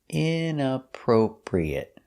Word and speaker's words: inappropriate: Inappropriate. Stress is on the inappropriate, the first and third syllable.